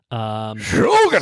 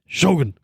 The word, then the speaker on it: Shōgun: Shōgun! So say it like that. I said it earlier, and I was like, why are you saying Shōgun like you're saying Logan?